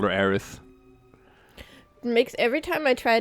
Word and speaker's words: Aerith: been arias yeah well Aerith sounds really weird and it's awful to pronounce so April said that like it's because it's it's supposed to sound a bit like Earth because she is like